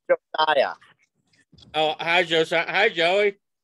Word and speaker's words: Josiah: Is that Joey or who's? It says Josiah. Is it Joey? It's pronounced Josiah.